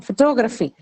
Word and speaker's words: photography: again aspirated huh uh next one photography photography photography uh right is that aspirated photography does not aspirated then what is